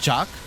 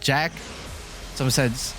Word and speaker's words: Jacques: watching was wrong, but some of them pronounced her name Jacques. Some of them said Jack. Some of them said Jacques. But I'm just gonna go with Jack because I'm more familiar with that, clearly, because that is